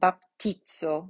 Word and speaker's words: baptizo: like in english and z um is going to have that sound baptizo so this sound uh that we hear in pizza really right so the pizza